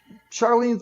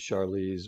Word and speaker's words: Charlize: Charlene Theron, is that how you say this? Charlene Theron? How do you pronounce Charlize. I think it's Charlize? Charlize.